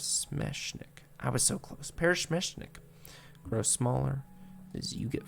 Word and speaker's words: Peresmeshnik: stretches across your face as you watch the parachmenic i said it wrong wait paris smash i was so close parish mishnik grows smaller as you get further away boom